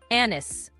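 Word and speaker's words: anise: ثلاث مرات بالنطق الامريكي بطريقتين انس انس الاثنين صح ومستخدمين لكن بعض الناس برده بينطقوها انيس انيس انيس والاثنين صحيحين ومقبولين. النطق الاكثر شيوعا في امريكا هو انس لكن انيس برضو مقبول ومعروف.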